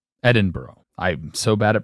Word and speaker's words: Edinburgh: In an area close to the royal capital of Edenboro. Edinburgh. Edinburgh. I'm so bad at pronouncing stuff.